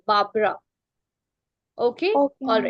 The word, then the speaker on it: Barbara: But there is one pronunciation mistake. That is, it's Barbara, my dear. Barbara.